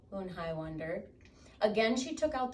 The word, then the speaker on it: Eun-hai: "Eun-hai," said Eun-hai. "Une?" the girl asked, scrunching up her face. "Ooh, ooh, ooh, Une," some of the kids chanted. No, Eun-hai corrected. It's spelled U-N-H-E-L. Whoops. It's pronounced Yoon-hai.